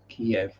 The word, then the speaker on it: Kiev: a chicken kiev um the city is key the french food is kiev because you know he's been through multiple different languages which is why it's pronounced differently yeah that's that's dealt